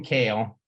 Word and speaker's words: Kehl: uh well anyway kale and it's also cool because he let us know that it's pronounced Kale like the salad I wish my name